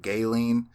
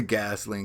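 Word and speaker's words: Ghislaine: How do you say her name? Gayleen? I say Gasoline because there's an S in there. I guess it's silent.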